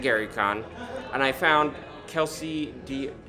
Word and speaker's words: Dionne: and I found Kelsey Dionne. How is your last name pronounced? Oh, that's a good question. It's like Celine Dion, same pronunciation. Kelsey Dionne, aka the Arcane Library,